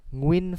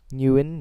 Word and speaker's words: Nguyen: Anyway, I understand people saying NH instead of NG. NH is also in Vietnamese, funnily enough. So, Nya is a thing. But Nya just seems, I think, is more natural for people to pronounce than ng. Ng is more stiff. Nya is just a bit of a lift of the mouth.